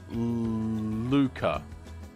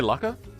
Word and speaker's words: Luca: It's pronounced Luca. Did I say that wrong? Luca? Did I say Lucka?